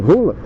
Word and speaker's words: Haaland: É o Haaland, que dizem que a pronúncia correta é Rola, o que gera muita quinta série na minha cabeça e na de qualquer homem nesse país.